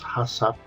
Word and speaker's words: HACCP: principles of HACCP, and that's how you pronounce it, is HACCP, although there's no A after the second C before P.